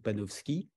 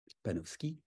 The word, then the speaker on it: Panofsky: siècle qui s'appelle Erwin penowski sans doute panopski s'écrit Panofsky panovski Erwin il a écrit beaucoup